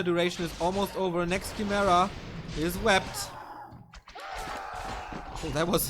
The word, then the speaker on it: Chimera: But yeah, the Chimeras were a big mistake. But shouldn't cost him the game. They're still around 100. Same on the other side though. It is pronounced Chimera.